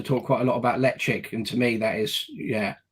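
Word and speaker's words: Ledaig: When did you learn how to pronounce lechik rather than Ledig?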